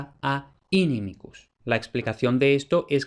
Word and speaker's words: inimicus: sílaba y como esa i en la penúltima sílaba es larga, lleva el acento y por tanto inimicus.